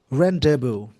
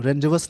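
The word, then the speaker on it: rendezvous: इस वर्ड का प्रोनाउंसिएशन होता है रेंडेवू। रेंडेवू, इसका मतलब रेंडेवू, याद रखेंगे। रेंडेवू, रेंडेवस नहीं पढ़ना, रेंडेवू। रेंडेवू बोलते हैं इसको, इसको याद रखेंगे।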